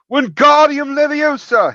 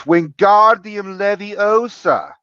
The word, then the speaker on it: Wingardium Leviosa: Wingardium Leviosa! He shouted, waving his long arms like a windmill. You're saying it wrong, Harry heard Hermione snap. It's Wingardium Leviosa. Make the gar nice and long.